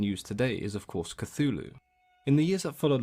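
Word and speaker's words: Cthulhu: an alien tongue Lovecraft himself used several different pronunciations over the years with the most common being CL but as you can imagine talking in an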